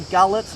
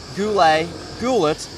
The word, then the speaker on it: gulet: In Turkey, you'll sail on a boat called a gullet, gulet, however correctly or incorrectly you pronounce words. I think it's gulet, I think.